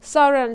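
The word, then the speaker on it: sovereign: What is the meaning of the word सॉवरेन? सॉवरेन का मतलब होता है, इट मीन्स इंडिपेंडेंट पीपल, यानी कि सार्वभौम। सार्वभौम का मतलब, तो यहाँ पे जी साइलेंट हो जाएगा।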